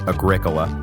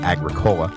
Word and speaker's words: Agricola: for the pronunciation correction it is Agricola not Agricola which yeah I agree sounds like some kind of terrible hippie soda so I'm sorry about